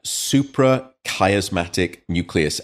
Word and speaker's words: suprachiasmatic nucleus: Yeah, suprachiasmatic nucleus.